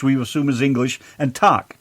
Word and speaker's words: tack: And Tak. T-A-C-K.